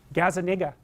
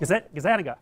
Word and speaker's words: Gazzaniga: Gazzaniga. That's wrong. Whoa! Gazzaniga.